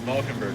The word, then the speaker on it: Valkenburg: I said Valkenburg right. Confirmed. Yes. Huh? I said Valkenburg right. I pronounced it right.